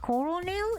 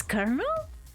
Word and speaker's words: colonel: Oh, is that how you pronounce colon colonel? Instead of coronail, it's kernel.